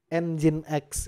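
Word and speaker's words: nginx: aja tulisannya gini ya jadi bacanya bukan -x nih hati-hati loh yang ngomongin X nanti saya kasih ini loh saya kasih nya engine X ya nah seperti ini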